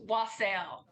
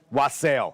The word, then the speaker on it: wassail: you tell us that one more time it's wasel wasel yeah cider Fest this weekend we're really excited